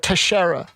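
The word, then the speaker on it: Teixeira: the Air National Guard Tashara I believe is how you properly pronounce his name he was the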